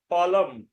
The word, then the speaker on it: ফলং: সাধারণত কোনো শব্দের শেষে যদি অনুস্বার থাকে তাহলে তার উচ্চারণ ময়ের মতো হয়। যেমন ফলং, যদি শব্দের মধ্যে থাকে ফলং তাহলে উচ্চারণ হবে ফলম। জলং এর উচ্চারণ হবে জলম। ফলং হবে না, ফলম। জলং হবে না, জলম।